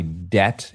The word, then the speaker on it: debt: Kristen, have you have you ever really considered why debt is pronounced debt with a silent B?